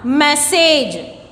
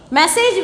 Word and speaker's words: message: Next one, message. Message we are pronouncing single.